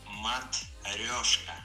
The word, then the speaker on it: Matryoshka: It is Matryoshka. Yeah. Y-N-O. Yeah. Thank you, Sergey. So now try saying it yourself. Matryoshka, Matryoshka.